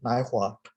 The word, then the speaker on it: Naihua: My first name is spelled Naihua, and the first syllable Nai is pronounced like nice without a C. The second syllable Hua is pronounced like what without a T.